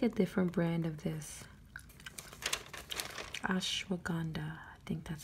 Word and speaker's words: ashwagandha: but i take a different brand of this ashwagandha i think that's how you pronounce it oh look right here they say